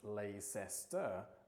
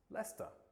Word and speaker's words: Leicester: For example, Leicester Square in London is not pronounced Leicester the way that it's spelt. It's pronounced Leicester, which is exactly why